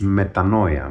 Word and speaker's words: metanoia: In English it is pronounced metanoia, which means repentance.